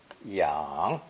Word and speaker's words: 氧: Pronounced 3rd tone, yang, yang.